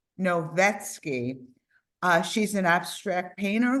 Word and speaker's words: Novetsky: you please say your last name for us novetsky novetsky uh she's an abstract painter who used bolds